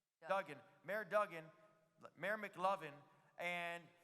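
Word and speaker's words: Duggan: Dougen.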